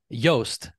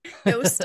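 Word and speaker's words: Joost: yeah yeah we we've heard his name being pronounced like 10 different different ways but yast yast okay yast yes that's the thank you for for corrected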